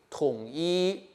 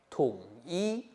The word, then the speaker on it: 同: 記得這個同呢，中間呢是比較偏向烏的發音，所以呢要比國語的同意的同音再烏一點。